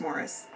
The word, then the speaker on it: Maurice: this past month, and that is Maurice by Ian Forster, even though it's supposed to be pronounced Morris.